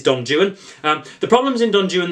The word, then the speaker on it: Don Juan: is Don Jan folks it's not Don Juan it is Donan because the rhyming schemes in the opening uh stanas um would render it uh uh uh impossible to read if you pronounced it Don Juan it wouldn't rhyme so it is Don Jan um the problems in